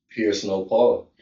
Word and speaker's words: PierceNoPaul: It's Pierce No. P I E R C E. Like how you pierce your ears and then N O P A U L.